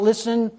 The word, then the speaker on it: listen: so listen listen listen the interesting thing about listen is it has as you can see uh